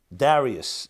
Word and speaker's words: Darius: Darius is the English pronunciation of this king.